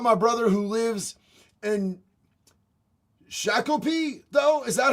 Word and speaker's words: Shakopee: I worry about my brother who lives in Shakopee, though. Is that how you pronounce it?